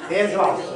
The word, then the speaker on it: Kirschwasser: How do you say it? Kirsch? Oh, Kirschwasser? Kirschwasser, yeah. Okay.